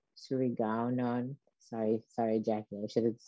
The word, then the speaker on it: Surigaonon: It's pronounced Yurok and Washo and Surigaonon, and we live in Aquas, Chesne.